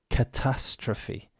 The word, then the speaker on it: catastrophe: languages and this is catastrophe catastrophe the stress on the second a c a t a